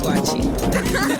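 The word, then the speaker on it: waakye: I taught you how to eat wachi. Yeah, she taught me how to eat. Wait, huh? How do I pronounce it?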